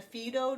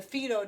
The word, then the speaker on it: Fido: on investing eventually in the Phaedo jars which I believe would be how you pronounce it because they are Italian so the Phaedo jars I learned about